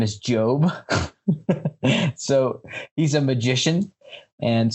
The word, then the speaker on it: Gob: But so the oldest brother, his name is Job. So he's a magician, and so his actual name is George Oscar Bluth, but he shortened it to G-O-B, so it's Gob, but he pronounces it Job.